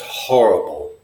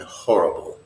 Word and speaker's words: horrible: just awful that's just horrible and for sure you pronounce the H in horrible horrible as it indicates